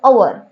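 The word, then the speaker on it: hour: जैसे एक वर्ड है आपके सामने आवर एच ओ यू आर इसको अपन हवर नहीं बोलते इसको अपन बोलते हैं आवर और यानी एक घंटा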